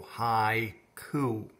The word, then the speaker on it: haiku: and say the word haiku and you go hi ku and my hand move twice so there's two syllables so this one can be a little